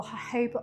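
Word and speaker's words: jojoba: If it's not very glidy and it doesn't slide very well, you can use a very simple Hoba oil that's spelled Jajjoba oil.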